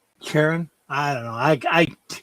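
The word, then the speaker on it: Charon: Oh, Cheron. Cheron. I don't know. I I I'm bashing it all the time. It can be pronounced multiple ways. It's kind of like chiron whatever I pronounce it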